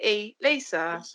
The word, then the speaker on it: E-Lisa: know what and then he pronounced my name correctly e lisa yeah yeah yeah yeah